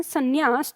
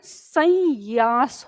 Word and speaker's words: संन्यास: संन्यास तो याद रखिएगा अगर आप इसको इस तरह से लिखते हैं, मान लो यहाँ से आपने बिंदी लगाई और ये, तो क्या होगा, इसका उच्चारण संयास हो जाएगा, संयास। तो ये गलत हो गया।